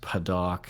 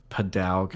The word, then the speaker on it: padauk: me and I was listening to that it's pronounced paddock somebody says padauk as too many there's a lot of weird